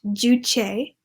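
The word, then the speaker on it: Juche: people the third bullet point I have is pronounced duche it is a North Korean term that translates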